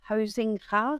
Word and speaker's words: Huizinga: Well, I always tell people, it's impossible to pronounce my last name because I'm Dutch. So my name is Huizinga, and we have this typical G, which is very Dutch, so it's very hard for people to pronounce, but that's all good.